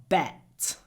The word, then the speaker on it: bet: So how do we get a clear difference between bet and bat? Bet. Try to pronounce the b with your lips in front of your top teeth.